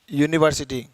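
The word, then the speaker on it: university: Okay, uniform, यूनिवर्सिटी, तो वहां हम लोग ए एन नहीं लगाएंगे।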